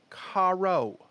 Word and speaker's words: Caro: And Caro will, Carl. I mean, no, Caro. Carl? No L. It's an O.